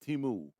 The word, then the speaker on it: Temu: in the US and that's teamu t-e-m-u it's pronounced timu and basically what they do is that they